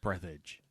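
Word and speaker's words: Breathedge: title of the game yeah not breath edge but breathage breathage yes and it's available on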